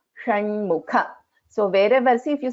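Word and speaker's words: षण्मुख: In Shanmukha, this is Sha. So this is Murdhanya Sha. So Sha and Sha. Shiva, Shanmukha.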